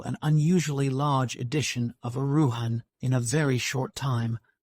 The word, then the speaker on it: Erewhon: understood that uan is pronounced as a word of three syllables all short thus Ian preface to Second